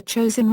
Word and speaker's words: Chosin: the Korean Korean Peninsula the name chosen is the Japanese pronunciation of the Korean place named Chang Jin and the name stuck